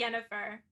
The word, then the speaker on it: Yennefer: Someone said that they know you watch The Witcher, and they said Yennefer, Triss, or the Bard. I don't know if I pronounced that right, but Yes, okay. Definitely Yennefer.